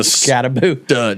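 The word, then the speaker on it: Skattebo: looked really good and Bo scabo is a scabo that's that's his name that's how they pronounced it during the game is it boo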